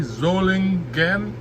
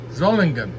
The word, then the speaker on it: Solingen: The Solingen factory, it's spelled S-O-L-I-G-E-N, but it's pronounced Z, Solingen, hard G, Solingen, which is a city renowned for knives and cutlery in Germany for centuries.